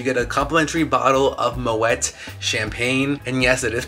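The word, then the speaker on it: Moët: champagne, so you get a complimentary bottle of Moet champagne, and yes, it is pronounced Moet, Google it.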